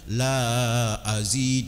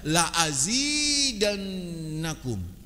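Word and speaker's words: لأزيدنكم: La azid, bukan bacanya la azid, dan nggak boleh baca itu. Bacanya apa? La azidannakum.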